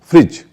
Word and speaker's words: fridge: जैसे कुछ शब्दों पे तो आप पहले से ही करते होंगे। फ्रिज, फ्रिज में FRIDGE, फ्रिज को कभी आपने फ्रिज नहीं बोला होगा।